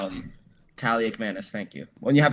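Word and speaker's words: Kaliakmanis: When you have a guy like uh Calak Manis, that's how you say his name, right? Cali McManus. Um Kali Mannis.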